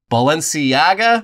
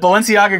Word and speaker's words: Balenciaga: from him, including his favorite, which I never pronounced correctly, but Balenciaga.